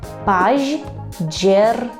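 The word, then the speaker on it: październik: це жовтень польською кажемо пажджернік розбивайте на частинки бо слово справді важке паж джернік пажджернік пажджернік повторюйте пажджернік А у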